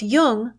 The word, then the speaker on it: Jung: just be sure to pronounce Jung with a hard J.